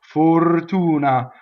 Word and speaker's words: fortuna: with the next word the first vowel is closed right the accent is on the Oh right so it's full - nah right full tuna for tuna when you sing everything's